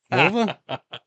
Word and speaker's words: Mulva: Mulva? Remember that in Seinfeld? Yeah, rhymes with a female body part.